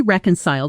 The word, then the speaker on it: reconcile: They finally reconciled after almost a year of not speaking. Listen for the stress. Reconcile, strong on the first syllable, softer through the rest.